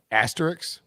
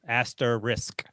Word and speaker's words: asterisk: Risk at the end. Asterisk. Oh, not Asterix.